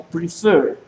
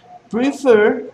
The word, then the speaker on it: prefer: no pronuncio prefer sino prefer prefer tiene el acento en la última sílaba y la recae el